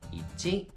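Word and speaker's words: 一: Et ça, il est prononcé en mandarin i. Et en japonais, ichi.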